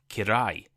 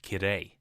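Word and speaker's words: きれい: friends in Japanese, but instead of saying beautiful, my pronunciation made it sound like I hate it. I said kirai instead of kirei.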